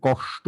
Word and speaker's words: কষ্ট: না না, সবগুলোই তো আপনি ওই এস উচ্চারণ করছেন। আমি বলেছিলাম এই 5টি 6টি যা লিখেছিলাম, প্রত্যেকটি শব্দ উচ্চারণের ক্ষেত্রে আমরা এসএইচ উচ্চারণ করব, তাহলে কষ্ট হবে।